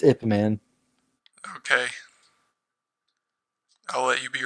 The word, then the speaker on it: Ip Man: It's Ip Man. But anyway, It's Ip Man.